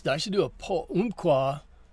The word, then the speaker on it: Umpqua: Oh, I I should do a po umpqua pronounced like umpire in the first syllable.